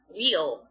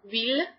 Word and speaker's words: ville: or whatever it is, said that it's pronounced wheel. In a sense, it is pronounced wheel, but with a more foreign accent, I guess. It's technically ville.